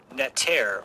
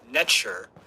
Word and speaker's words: neter: So the sacred double-headed axe, which is called the Egyptian neter, or netcher, which is spelled N-E-T-E-R. And in the Egyptian language, there was no vowels, so it was just spelled N-T-R.